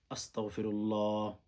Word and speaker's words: আস্তাগফিরুল্লাহ: আমাদের অনেক ভাই বোন ইস্তেগফার পাঠ করে এভাবে আস্তাগফিরুল্লাহ, আস্তাগ বলে না, আস্তাগফিরুল্লাহ, আস্তাগফিরুল্লাহ, আস্তাগফিরুল্লাহ, আস্তাগ, কাফ উচ্চারণ করবেন, আস্তাগ, ওখানে গইন, হ্যাঁ? এগুলো বলতে হয়।